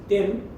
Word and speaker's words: Then: Ten, now all pronouncing as Zen, Z-E-N.